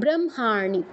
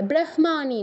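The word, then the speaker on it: ব্রহ্মাণী: সেটা আগে উচ্চারণ হয় কিন্তু হ এর ক্ষেত্রে একটু ব্যতিক্রম হয় যদি অনুনাসিক্য বর্ণ যুক্ত থাকে হ এর সাথে তাহলে ওই অনুনাসিক্য বর্ণটা আগে উচ্চারণ করতে হবে তো যুক্তাক্ষরটা ভাঙলে আমরা কি পাচ্ছি হয় হসন্ত যোগ ম হচ্ছে প বর্গের অনুনাসিক্য বর্ণ এজন্য আমরা মটা আগে উচ্চারণ করব ব্রহ্মারী ঠিক আছে ব্রহ্মানি নয় বুঝতে পেরেছেন আচ্ছা ঠিক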